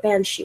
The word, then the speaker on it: banshee: it's spelt bean, but it's pronounced ban.